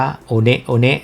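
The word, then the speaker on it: One One: Earth นะ คน อเมริกัน ส่วน ใหญ่ ก็ จะ เรียก ว่า โก้า oneว หรือ แม้ กระทั่ง พวก เรา เนี่ย ช่วง แรก ๆ เรา ก็ จะ เรียก ว่า โฮก้า Oneวัน แต่ จริง ๆ แล้ว ต้อง อ่าน ว่า โอเนะ โอเนะ นั่น ก็ คือ ที่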